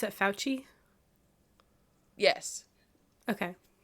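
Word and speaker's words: Fauci: pretty much like the spokesperson is do you pronounce it fouchy yes okay it's giving that Vibe where he's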